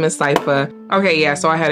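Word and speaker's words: Sypha: a month ago so I might say her name wrong but I think her name is cipa okay yeah so I had it right I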